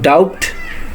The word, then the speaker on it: doubt: So second one is doubt. Doubt, not doubt, it will be doubt.